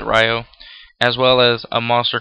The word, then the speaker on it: Raiho: But I try to get Defender, General Ryo, or Raiho, however you pronounce it. I pronounce it Ryo, as well as a monster called Dice Sojo, into the graveyard.